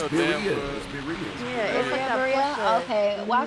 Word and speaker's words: birria: I always say birra. It's birria.